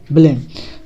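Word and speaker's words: blame: अब हमें इसका उच्चारण लेना है क्योंकि इसके बाद एक अल्फ़ाबेट छोड़ के ई है, तो हमें क्या हो जाएगा, ब्लेम। तो आधा वाह लामिक तल्ले माँ, ब्लेम।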